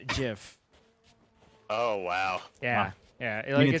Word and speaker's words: GIF: is in that uh it's pronounced jiff oh wow yeah yeah